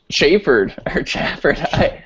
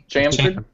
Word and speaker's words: chamfered: I think it's Chamfered? Chamfered. Pretty sure it's chamfered. Unless you're in an Apple video, that's chamfered. Chamfered. Okay, just making sure. No one ever used the word chamfered, by the way, until